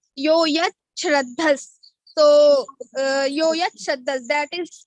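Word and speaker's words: यो यच्छ्रद्धः: Yo yat shrandas sa eva saha, and meaning of Yoyach, Shraddhas. So here it is Sandhi. After Sandhi, Sha becomes Cha. Yoyach Shraddhas.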